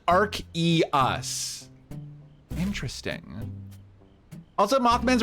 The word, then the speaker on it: Arceus: anyone been playing the new um legends arceus how do you pronounce it arceus or arceus uh thank you